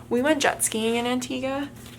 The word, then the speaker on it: Antigua: it was beautiful we went jet skiing in Antiga it's actually pronounced Antigua but I always say Antiga and it was so much fun this is